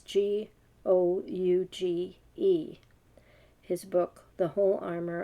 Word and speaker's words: Gouge: So the first one is, I don't know if you pronounce his name, Gouge. It's Gouge.